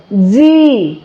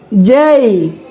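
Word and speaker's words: J: এরপরে এটির উচ্চারণ করতে হবে জেই। কি হবে? জেই, বাট এটি হচ্ছে আমাদের উচ্চারণ করা হতো জে। ওকে, সো আজকের পর থেকে আমরা উচ্চারণ করবো হচ্ছে জেই, জেই।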